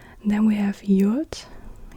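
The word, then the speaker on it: יוד: Yod is like a Y. What do they write? Y as in yes, y, y. At the beginning, or at the beginning of a syllable, it's like an E, like the E in meat, meat. Yeah, yeah, like an E, Y, sound.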